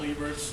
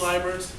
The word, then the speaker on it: Liebert: Again, my name is Liebert, not Liebert. I know it's the German, someone added a vowel at Ellis Island, I don't know. But it's pronounced Liebert.